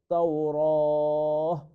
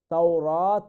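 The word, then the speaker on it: التوراة: আং তুনাজ্জালা, এগেইন আং তু ইখফা, তুনাজ্জালাত তাওরাহ, তাওরাত এখানে বলা যাবে না, এটা হচ্ছে তা, এটা তায়ে তানিস বা তায়ে ইয়েস তায়ে তানিস, নো তায়ে মারবুতা, এখানে এই তাটাকে আমরা হায়ার উচ্চারণ করে তাওরাহ, তাওরাহ, এখানে হা বলে আমরা এখানে থামবো, তাওরাত বলে নয়।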